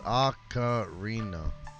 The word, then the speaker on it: ocarina: was at let's see like macarena but yeah without the m ocarina ocarina yeah i